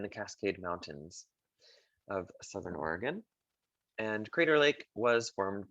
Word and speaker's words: Oregon: the state of oregon you might want to say oregon the locals call it oregon capital is salem crater lake national park is worth mentioning it is in the cascade mountains of southern oregon and crater lake was